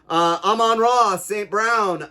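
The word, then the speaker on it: Amon-Ra St. Brown: Amon-Ra, St. Brown.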